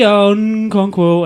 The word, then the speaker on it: Okonkwo: Okonkwo. And I know it's Okonkwo, but I couldn't say it correctly. He just puts the N in.